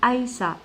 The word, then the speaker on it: Aïssa: Alors Aïssa. Aïssa comme l'Aïd. Voilà.